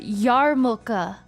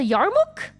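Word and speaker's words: yarmulke: I know how to pronounce the the Jewish hat now. It's I wasn't sure how to pronounce it when I was wearing one in South Park, but it's a yarmoka.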